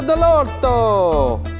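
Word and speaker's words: Dell'Orto: the end of that Dorado D it's a delorto hey it's running pelli Tires pelli Tires of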